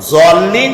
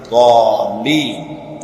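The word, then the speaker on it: الضالين: সেই জন্য জল্লিন যদি কেউ পড়ে তাহলে নামাজ অশুদ্ধ হয়ে যাবে। এটা দল্লিন গায়রিল মাগদুবি আলাইহিম ওয়ালা দল্লিন, দালও না আর জও না, উচ্চারণ হবে এর মাঝখান দিয়ে দল্লিন।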